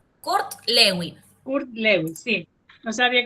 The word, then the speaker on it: Kurt Lewin: K U R T. Lewin, no, Kurt Lewin.